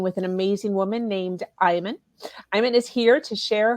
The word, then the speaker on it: Iman: It's actually an Arabic name, so the correct pronunciation is Iman, Iman. but not too many people in the United States can pronounce that. So Iman, like the model that was married to David Bowie.